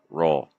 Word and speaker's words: roll: say row row we want to say row roll and we don't want to say b b